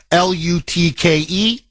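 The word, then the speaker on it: Lütke: He came out, Toby Lutke, I believe is how you pronounce his last name, Lutke.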